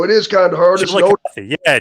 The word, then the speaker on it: Chillicothe: Yeah, it's Chillicothe, Ohio. It is kind of hard. Chillicothe. Yeah, Chillicothe.